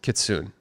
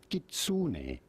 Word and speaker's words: kitsune: How do we say this, Kitsune? How do you pronounce Kitsune?